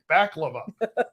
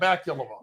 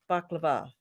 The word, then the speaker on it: baklava: I'll tell you and Joyce says that I pronounced it right so baklava Scott bakulova no baklava whatever all right let's see